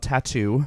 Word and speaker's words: t.A.T.u.: a very successful group called tattoo yeah and that's how you say it right okay uh and then